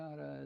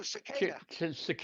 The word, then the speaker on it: cicada: Bill's bringing a Chicada as a hitchhiker. Bill picked up a hitchhiker. No, I think it's what's a cicada? Is that that's a bug? Oh, cicada. Cicada. I was pronouncing wrong.